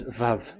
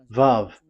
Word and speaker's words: Vav: VAV. So it's V as in Vogue. So it's really V. How to read Vogue? So the word, the shape Vav is really pronounced V, like Vogue.